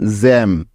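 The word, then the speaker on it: gem: এখানে নিয়ে নিব জ এখন জ এরপরে ই আছে তাই নিতে হবে একার কারণ আমরা জানি এ বা একারের জন্য ইংরেজি বানানে ই বসে সুতরাং জি ই মিলে হয়ে গেল জে অর্থাৎ জ একার জে তারপরে এম আছে যার জন্য নিয়ে নিব ম তাহলে জি ই এম মিলে হয়ে যাবে জ্যাম জ্যাম অর্থ রত্ন বা দামি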